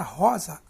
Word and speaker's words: rosa: Na palavra rosa, rosa, a sílaba mais forte é o ró.